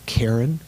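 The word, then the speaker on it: cairn: would also mention the karen you know what a karen is is that how it's pronounced karen karen this pile of stones yeah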